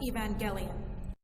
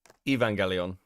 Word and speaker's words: Evangelion: Where's how to pronounce Evangelion? This is man's ultimate fighting machine, the synthetic life form known as Evangelion. Evangelion.